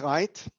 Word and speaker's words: Reith: of this virtual meeting my name is Reith or ‘wreath’ as one of you would pronounce it and I'm the honorary